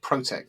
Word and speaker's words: ProteQ: Yeah, we actually pronounce it ProteQ, just like the word protect, but without we don't pronounce the C, because people see the logo with the P and the Q and the C, so we're just calling it ProteQ when we pronounce it.